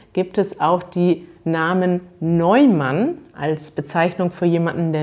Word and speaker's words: Neumann: Also die Namen Neumann, neu ist vielleicht interessant, das EU, da spricht man Eu aus, Neumann, und Schwarz, das ist vielleicht ein Wort, was nicht so einfach auszusprechen ist.